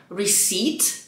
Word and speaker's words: receipt: Hej, tu uważaj też na wymowę, tego P tam nie ma. Receipt, ale ono i tak nie jest receptą.